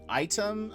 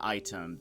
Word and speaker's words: Aitum: Item, I guess is how you say it. It's AITUM. Might work better. There are some things that I cannot do currently on Item that I know I can do on Sammy.